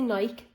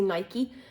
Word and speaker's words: Nike: I say Nike, others say Nike, but I'm really, really loving their trainers at the moment.